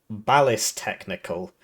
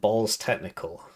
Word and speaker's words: Ballistechnical: wrong the whole game he's actually called ballis technical not balls technical oops uh and uh